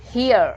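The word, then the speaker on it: here: हियर, जब भी हम हियर बोलते हैं तो हम ई को साइलेंट कर देते हैं, जो कि हमारा फर्स्ट रूल था।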